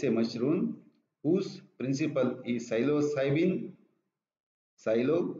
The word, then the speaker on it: psilocybin: And psilocybe mexicana is a mushroom whose principle is psilocybin. Psilo, P is silent here, psilocybin is a tryptaminergic compound.